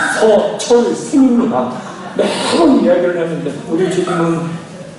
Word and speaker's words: 서철승: 뭐 인터넷 가입하라 뭐 하라 뭐 카드에서 전화하고 뭐 어떻게 전화하면 서칠성 고객님 되십니까? 서철승입니다.